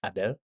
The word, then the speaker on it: Abel: Sorry, I'm just going to ask, is it Abel or Abel? Abel, it's good. Because in French it's Abel.